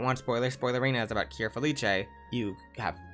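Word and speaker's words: Cure Felice: you think about it and let's get into kir feliche kir feliss I'm going to say kir feliche cuz that's how they pronounce it in the show but look at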